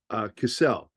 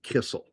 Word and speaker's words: Cassell: And down south in Pennsylvania, it's with two L's, and so it's pronounced Cassell. The double consonant at the end softens the vowel before it.